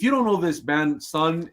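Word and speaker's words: Sunn: before that he did there's a drone band called Sun there's an o with a lot of things but you don't pronounce that it's just sun with a double n and this is called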